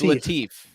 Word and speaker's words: Latif: I swear if Joel mispronounces my name. It's Latif.